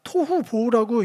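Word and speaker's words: תֹהוּ וָבֹהוּ: 토후 보호라고 읽기도 좋게 그렇게 연달라 발음하기 좋게 그 단어들인데 그냥 일반적인 뜻은 형태도 없고 혼란스럽고 텅 비어 있다.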